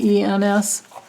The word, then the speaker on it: Greitens: Okay, so she wants to know if Eric, I think his name is pronounced Greitens. It's Greitens.